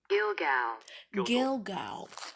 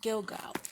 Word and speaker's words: Gilgal: scroll through my laptop to see how they pronounce it gilgal okay it's called gilgal so gilgal is the site where the israelites camped as